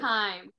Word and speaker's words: Keime: How do you pronounce it? Keime.